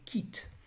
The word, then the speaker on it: quitte: Now in English we pronounce this with a distinctive qu sound, whereas to this day the French use a hard k. In words such as quit, the French would say quitte.